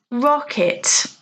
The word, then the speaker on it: rocket: Well, the answer is rocket. Hopefully you can hear the stress is on the first syllable, rocket, whereas the others, the stress is on the second.